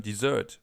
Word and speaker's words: Dessert: But we also have the term dessert. We just pronounce it das Dessert. Das Dessert. So a little more like the original pronunciation in French, where this word is actually from.